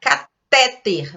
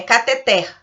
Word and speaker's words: cateter: Catéter. Observe quando você pronuncia, parece que é paroxítona. Catéter, mas não é, é cateter. O certo é a pronúncia sílaba tônica oxítona, então é cateter.